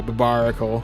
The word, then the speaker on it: Barbaracle: I've been pronouncing the right name for this Pokemon, yeah? Okay, yeah, Barbaracle.